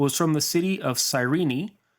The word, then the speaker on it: Cyrene: from the city of Cyrene which I believe is pronounced something like qures in Greek and is located in